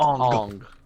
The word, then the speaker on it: Aang: change in pronunciation for Aang. Yeah, like in Hindu, we it's pronounce it Indian. It's Ong. Ong.